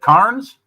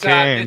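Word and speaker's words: Cairns: Carnes? That's Cans.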